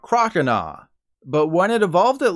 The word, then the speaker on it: Croconaw: Then it evolved into Croconaw, which is said like oh hell nah, not Croconaw.